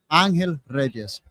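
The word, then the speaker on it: Ángel Reyes: Uh we had our names on the door and it was uh my name in English is Angel Reyes, but in Spanish it's Anel Rees.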